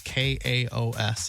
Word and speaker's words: Kaos: It's K Aos. I think that's I think it's Kaos.